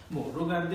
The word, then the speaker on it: regarder: regarder এটাকে আমি একটু সিম্পলিফাই করে বলছি। আসল উচ্চারণটা হচ্ছে regarder, d'accord?